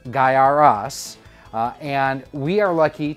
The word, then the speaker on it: Gaiares: hands right now and how do you say it guy aries guyaris guy air ease let me know down in the comments how you pronounce it it is guyaras uh and we are